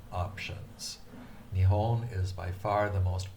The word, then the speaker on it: Nihon: It has 2 pronunciation options. Nihon is by far the most popular, but when somebody is being very formal, they will say Nippon.